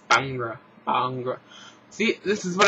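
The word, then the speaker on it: Bhangra: number three uh Corel bagra I thought it was bagra but no you don't uh pronounce I guess the H and it's bangra Bang see this is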